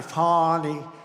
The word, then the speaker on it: Fani: But many, many people, their lives have been destroyed because of Fani, F-A-N-I, Fani. You have to pronounce it Fani.